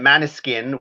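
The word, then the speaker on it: Måneskin: I'm pronouncing it Maneskin, which it's Danish for moonlight.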